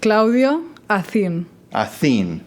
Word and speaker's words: Claudia Acin: to say it okay I say it Claudia a aen yeah there's there's some